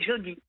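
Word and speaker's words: Joddy: On a quand même Et la petite dernière, c'est Jody. J-O-2-D-Y. J-O-2-D-Y. Jody. Oui. Comme Jodie Jody. Foster, mais ça s'écrit pas pareil.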